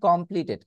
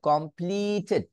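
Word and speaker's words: completed: focus করি সো এই ক্ষেত্রে খেয়াল করে দেখুন কমপ্লিটেড এখানে টি নামক যে সাউন্ডটা আছে কমপ্লিটেড কমপ্লিটেড তাহলে কমপ্লিটেড তার মানে এখানেও আমার আগের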